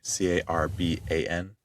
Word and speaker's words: Carban: C A R B A N. Craft. Not carbon like the element.